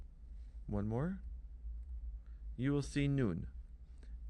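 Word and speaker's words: ܢܘܢ: You will see noon. Noon is equivalent to the letter N.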